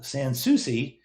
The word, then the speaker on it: Sansucci: Sansucci, yes, I said it right.